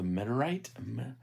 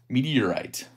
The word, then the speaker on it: Meteorite: The Metarite? Meteorite. I was like, why does it say Meter? But you got to pronounce all the letters.